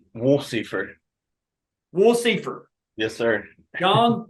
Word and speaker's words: Wolsiefer: have it for eternity the cor correct pronunciation of your name it's woler W Seer yes sir John W